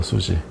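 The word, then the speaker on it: SUSY: 근데 이 슈퍼시메트리를 보통 우리는 이제 줄여서 수지라고 불러, 수지. 실제 발음이 수지예요. 인터내셔널한 발음이.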